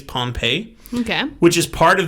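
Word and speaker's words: Pohnpei: vesuvius and there's p-o-h-n-p-e-i so like pun pay i may be pronounced or maybe it's pawn pie but i think it's pompeii okay which is part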